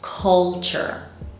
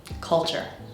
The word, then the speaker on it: culture: written on the page this word is pronounced culture culture the first syllable is the strong one and our vowel sound